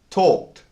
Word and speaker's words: talked: We pronounce the ed as a t sound, a t sound, a t. So the word starts and ends with the same t sound. Talked, talked.